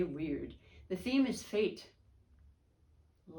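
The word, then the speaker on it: wyrd: just read it and this pronunciation is weird like wr w y r d you say weird the theme is fate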